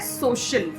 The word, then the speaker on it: social: एज ऑन the screen आप देख सकते हो, यहाँ पे स साउंड है, यहाँ पे श साउंड है, तो इसकी प्रोनाउंसिएशन क्या है? सोशल.